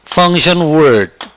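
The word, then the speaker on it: function: 이렇게 펑션라는 말을 쓰지요 펑션 션 이이란 단어가 참 재밌는 단어입니다 같이 발음해 볼까요 펑 펑펑펑 펑션 펑션 여기 보이죠 뭐가 보입니까 I 보이죠 I 자 다에 모 뭐면 엑센트가 바로 앞니다 펑션이 말이 바로 기능이라는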